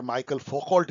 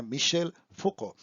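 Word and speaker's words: Michel Foucault: अब थर्ड जो मिशेल फुको हैं, मेरे प्रोनाउंसिएशन पे देखिए मैंने इनको कई बार माइकल फोकॉल्ट भी बोला है, जो कि बहुत ही रॉन्ग है। इनका सही प्रोनाउंसिएशन है मिशेल फुको।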